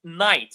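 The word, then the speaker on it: knight: Night, yes, the K is silent here.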